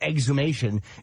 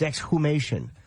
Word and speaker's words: exhumation: No, not exumation. It's it's exume exume or not. It's not exumation. It's exhumation or exoom. I will never say it like that. Okay. I wouldn't either. It's an awkward way to say, but that is the proper way to say it.